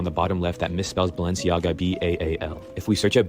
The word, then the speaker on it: Balenciaga: लोग इसको बैलसियांगा कहते हैं, कोई बालशियांगा करके बोलते हैं, लेकिन उसने इसकी सही जो प्रोनाउंसिएशन है वो बताई है कि कैसे इसको बोलना है।